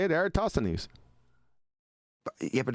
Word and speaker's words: Eratosthenes: That's the way I say it, Eratosthenes. Yeah, but it's not E, is it? It doesn't start with an E, does it? Era. That's how you say it. Era. Yeah. Eratosthenes.